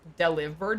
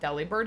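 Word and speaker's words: Delibird: Speaking of pronouncing things, uh, I heard people pronounce deli bird is deliber, not deli bird. It makes sense. Wait a minute. Deliver bird. That does make sense. Like deliver.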